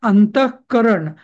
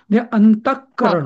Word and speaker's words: अंतःकरण: पण हा जर अंतःकरण हा जर शब्द एकत्र एकत्र म्हणायचा आहे मला म्हणजे शब्दही एकच आहे तर त्या विसर्गाचा ते उपदमानीय होईल अंतकरण होईल अंतकरण डबल क होईल उच्चारण त्याचा डबल क